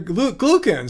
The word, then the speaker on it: glucan: He did say glucan once. Glue.